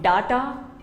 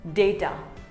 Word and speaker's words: data: It is not data, it is called data. Say data.